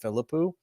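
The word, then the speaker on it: Philippou: I'm going to pronounce that Philippu. Could be wrong, you know, and that's okay to be wrong sometimes.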